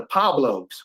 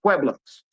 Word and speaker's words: Pueblos: Because he didn't know that it was pronounced Pueblos. I mean, Flacco ain't a dummy. You know, PUE, that don't look like it's pronounced pop. That don't look like pop.